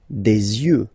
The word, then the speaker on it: yeux: Un œil, un œil, des yeux, des yeux. Yeux, yeux, ok? Don't pronounce the final X as usual.